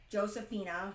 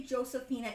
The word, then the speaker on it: Josefina: Um, the closest I do not speak Spanish, but the J is pron is pronounced as an H. So why I say Josephina, it would technically been have been pronounced as Josephina.